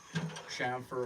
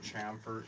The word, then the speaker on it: chamfer: CH H MF R this sham or CH either way chamfer or chamfer either pronunciation is good um so what the